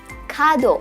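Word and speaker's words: 門: Kado pendek ya, kado.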